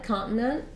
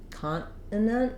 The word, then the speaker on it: continent: we're looking at a continent I tend to say leave this first T out and say can't continent continent um or I make